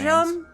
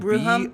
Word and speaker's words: Boojum: Boojum with like an audible J, or is it like how Bruja, where the J is an H? I don't know. It's spelled Bruhum?